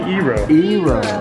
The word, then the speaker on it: eero: of this is it it's actually eero okay it means water in japanese oh okay awesome so